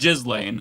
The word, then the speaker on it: Ghislaine: pronounce- It's just Ghislaine, okay?